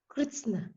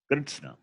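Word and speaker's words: कृत्स्न: Kritsna. Kritsna. Yes, it is Kritsna. Kritsnasya bhavaka kartsnyam. Kritsna means total, not Krishna. It is Kritsna.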